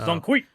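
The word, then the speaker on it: 钟馗: Black myth uh Zongwi Zong Jeongi Zongwi. I only know how to say his name because uh because of Smite. I'm dead ass. His name is Zongi.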